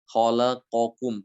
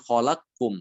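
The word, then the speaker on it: خلقكم: ban ya Nah di sini dia dibaca dengan izhar kholaqokum Bukan kholakum Ya bukan kholaq kum tapi kholaqokum ya kemudian contoh yang mutaqaribain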